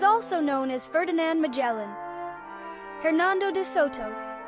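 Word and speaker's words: Hernando de Soto: Hernando Dotto, pronounced Ernando de Soto, explored the American Southeast.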